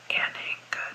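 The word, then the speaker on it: Anhinga: the homestead area there is a trail called anena Trail anena is spelled a an h i n g a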